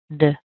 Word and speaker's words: directly: It's not duh, it's d. D. So let's keep that one. We'll keep the d. All right, let's look at the second syllable, rect. Rect. We want to have a nice eh sound. The eh as in egg, as in head. So a nice eh, and then we're going to add the k.